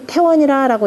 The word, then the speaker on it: 태원: 그래서 박벌, 또 그렇기 때문에 박벌 허문하여, 또 허문을 잠깐 정벌하여서 지우 태원이니, 저 태원에까지, 지역명으로 읽을 때 역시 태원이라고 읽습니다.